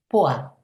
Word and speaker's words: pois: Em francês a gente escreve ervilha com p O I S, ou seja, pois, mas a gente pronuncia poá como o nome daquela cidade. Interessante, né?